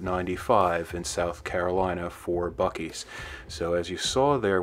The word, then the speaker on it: Buc-ee's: All right, guys, obviously we're at Bucky's, so sorry.